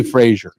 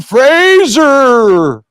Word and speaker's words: Fraser: I'm gonna say Frasier anyway let me say Frasier but I don't want to nobody's ever got my name Brendon Fraser see it didn't sound right it felt good